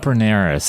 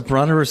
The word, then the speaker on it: Brunnera: What about Berneras? I know you have that on your list. The Brunners are great.